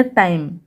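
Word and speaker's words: time: फिर टी आई टाई, फिर एम को पढ़ा जाता है म, तो हो गया टाइम, और लास्ट में जो ई है ये साइलेंट रहेगा।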